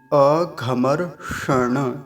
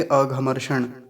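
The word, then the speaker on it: अघमर्षण: अ घमर क्षण तोय जो बीच में जो मूर्धन्य सकार है इसका अच्छे से उच्चारण करेंगे अ घमर ण श श ऐसा करके और पीछे जो ण का है ये जो ण है यह इसको पूरा बोलेंगे ऐसा नहीं बोलेंगे अघम सण ऐसा नहीं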